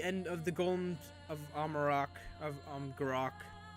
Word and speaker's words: Amgarrak: But yeah, that is the end of the Golems of Amgarrak, that's how you pronounce it, Amgarrak.